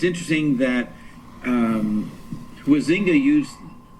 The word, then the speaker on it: Huizinga: And it's interesting that Huizinga used, how do you say it? Huizinga? I say it, he's Dutch. I mean, it's spelt H-U-I. Huitzinger, but the Dutch pronounce it Huitzinger.